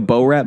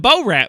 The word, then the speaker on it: Borat: The Bo Rat movie.